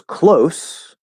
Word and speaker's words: close: itself however this word this actually is two different words spelled the same way okay there's close meaning near something is near to me physically um or i'm close to finishing the project like we were talking about uh last week so that i'm close to the end of the project but if it's the verb right can you please close the door okay it's a z sound spelled with an s